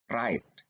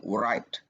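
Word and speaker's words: write: tidak pernah dibaca ya Jadi kita bacanya Raid Chrome pen ya bukan white roh ya Jadi huruf w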